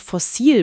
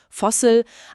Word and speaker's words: Fossil: Die Aussprache ist auf Englisch ein bisschen anders. Fossel, aber das Wort ist fast gleich.